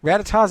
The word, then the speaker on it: Rattata: Believe me, Rattatas attack me every time I take a 3-foot movement from anywhere.